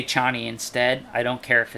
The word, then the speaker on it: Chani: in the fremen and it's not actually pronounced chaney it's pronounced cheney um i've heard frank